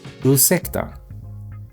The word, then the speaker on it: ursäkta: Ursäkta. That means excuse me, and it's pronounced ursäkta.